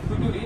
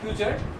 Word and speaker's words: future: Sometimes we misconfuse the pronunciation of the word future with futuri. That's why I made some fun previously. So এটা future.